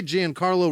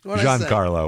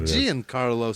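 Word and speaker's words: Giancarlo: I say it wrong John Carlo would probably be oh okay Gan Carlo Gan Carlo's fine but it's probably like a John Carlo type of thing is what You' call him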